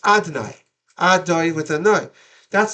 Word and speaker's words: Adonai: You say Yud Kei Vav Kei, which is pronounced Adonai, Adoi with a noi.